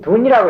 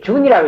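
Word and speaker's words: 屯: 돈은 맞냐 주는 그건 돈이라고 했다는데 준이라고 읽어야 돼 젊게 준 자 주는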